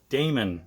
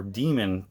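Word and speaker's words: Daemon: bad this was mayhem with Damon or demon however you want to pronounce it if you want to get old fancy you can call it Damon but yeah this was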